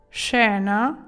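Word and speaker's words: scena: сцена фільму захоплююча ла ось це слово читається шена шена емоціонанте емоціонанте бачите описуємо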